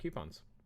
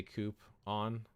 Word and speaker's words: coupon: You'll get 300 coupons. You say coupon, I say coop on. Coupon is how I pronounce it, but hey, I mean, we all know what we're talking about.